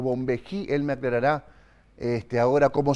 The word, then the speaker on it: Bonvehi: ¿Bombeí o Bombejí? Para pronunciarlo bien. Es Bombeí. Bombeí, muy bien.